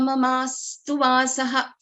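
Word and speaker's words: ममास्तु वासः: There is sa, which is the first consonant, and then we have the another consonant, right? So after this sa, there is no other swara after this sa. This sa is, this is the first consonant in this Samyuktaksharas too. So sa is getting doubled.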